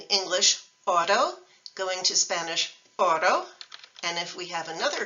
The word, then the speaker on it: oro: Spanish single R so the word for gold is Oro so listen to Otto in English and Otto in Spanish it's really the same thing Oro Otto that's the Spanish single r in English when